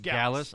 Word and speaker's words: Gallus: It's just Gallus. I wasn't sure how to spell it.